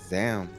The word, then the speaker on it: Zaun: His name rhymes with noun. It is Zaun.